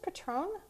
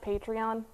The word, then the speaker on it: Patreon: Is it pronounced Patron? It sounds like it's whenever I say that. It sounds like a tequila. Tequila. Yeah, it makes me think of tequila. But just look for her contact information as we talk to the awesome Kelly Mulry. Hi, Kelly. Hello. Do you create this while you're doing tequila shots? No, that's not the Patron. Actually, it's pronounced Patreon.